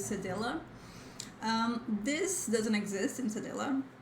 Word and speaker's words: cedilla: In Portuguese we say cedilha, cedilha, but the pronunciation of this in English is cedilla.